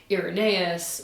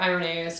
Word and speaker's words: Irenaeus: So then Polycarp was the teacher and mentor of Irenaeus, or Irenaeus, depending on how you pronounce the Greek, who was also a